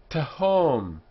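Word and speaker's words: תהום: Tahom, a syllable that begins with two consonants, as this one does here, and between them is the short eh sound. Tahom. The syllable ends in a consonant. Tahom, so it's closed.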